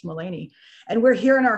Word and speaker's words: Melanie: haffed it up and spelled it like melanie but it's uh pronounced mullany and we're here in